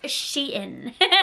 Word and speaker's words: SHEIN: like that it's Sheen are you becoming a pronunciation teacher it's she in and if you don't know what Sheen is